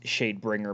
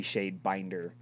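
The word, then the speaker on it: Shadebinder: bringer but it's actually shade binder that was a total mispronunciation on my half whoops miss pronunciation that's the wrong word dude no i just added i just added an extra r to it sure sure we'll go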